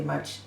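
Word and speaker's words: 木: the other strokes pretty much still the same as original this pronunciation is mu mu the first home original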